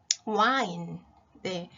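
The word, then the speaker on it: whine: 엄청 많이 나오잖아요 그런데 이거 발음을 조심해야 돼요 발음 와인네 우리 와인 마시는 술 와인 하고 스펠링 h 빼고 똑같죠 그래서 그 마시는 포도주 와인을 생각하면서 물론 h 있지만인 낑낑거리다 발음 조심해 주시고요 피은 우리가 여러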